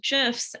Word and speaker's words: GIF: but also memes and gifs and yes i say that with a soft g so please don't